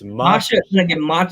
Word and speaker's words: Masha: I always say her name wrong. I'm gonna get Masha. It's Masha.